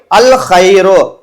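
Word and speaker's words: الخير: தவிர அல்ஹப்புன்னு சொல்ல முடியாது அதே மாதிரி அல்ஹைரு அஹைருன்னு சொல்ல முடியாது அப்ப இரண்டு முறை அதே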